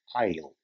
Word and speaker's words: aisle: wide-body aircraft has double I'll I'll though it's written as a i SL e the S remains silent and it is pronounced as I'll take a look at